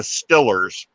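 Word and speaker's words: Steelers: pit fans he says football fans in southwestern pennsylvania root for the stellars and that's how they pronounce that s-t-i-l-l the stillers they're stellar fans yeah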